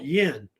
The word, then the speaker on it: Yin: ancient times it was called yin spell y i n there Yin I think it's said it and um today it's